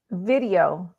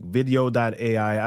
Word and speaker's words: Vidyo.ai: Video.ai. And I think it's Mhm. spelled like VIDYO.ai. That's correct. All right, fantastic. Video.ai.